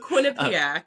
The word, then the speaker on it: Quinnipiac: Uh, for folks who It's on God, is it Quinn Quinniac? Is that how you pronounce it? Quinnipiac.